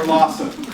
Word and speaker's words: LOSOM: It's Local Organic Social Media, or LOSOM, which also just happens to rhyme with awesome.